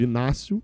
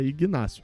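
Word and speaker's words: Ignácio: Todo mundo falava Inácio. Aí a gente perguntou para ele e falou: "Não, o G, o G fala é Igácio". Provavelmente o Gustavo deve ter perguntado ele lá atrás.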